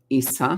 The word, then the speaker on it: Isa: energy okay let's see isa isa that's exactly how they pronounce it means ice that is